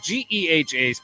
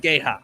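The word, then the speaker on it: GEHA: Chiefs and the Ravens in Kansas City at G field at Arrowhead Stadium that's how you say it that's how you say it we learned that yesterday not pronounce it Gaya no that is not how you say it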